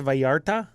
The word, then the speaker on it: Vallarta: it reviarc you know that double l in Spanish is a y sound really yeah oh I was today years older I learned that yes that's fun uh that's why in Spanish it's Puerto Vallarta instead of Puerto Vallarta right oh yeah neat